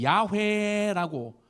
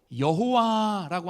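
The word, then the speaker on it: 야훼: 여러분, 이것을 히브리어로 이야기하면 야회라고 읽고 또 여호와라고 하는 여러분 그 어 이름을 아마 들어보셨을 거예요.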